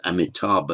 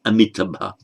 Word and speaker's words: Amitabha: Amita, as in Amitabha, often pronounced as Amitabha, it's Amitabha.